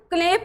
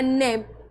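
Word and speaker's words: knife: अब इसको क्लेप नहीं पहनना। यह है नेफ। क्यों? क्योंकि एन से पहले हमें के दिख गया तो के साइलेंट हो जाएगा। के का प्रोनाउंस नहीं होगा।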